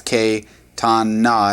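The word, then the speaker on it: קטנה: And no, notice that we have the dogish there. So that'd be repeated twice. K tan na.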